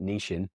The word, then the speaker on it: niching: And it's a great example of I'm going to use the British pronunciation of it, niching. It's a great example of niching right down into what